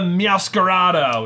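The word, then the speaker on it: Meowscarada: live boom and the miascarado which is the final form of spaghettito I really feel like they were just starting with their syllables just sound it out it's meows scarves masquerade yeah there you go so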